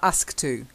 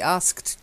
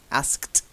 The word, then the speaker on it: asked: that asked to gotta have the - Sapna task - that's not how we pronounce it to be asked to do something try again to be asked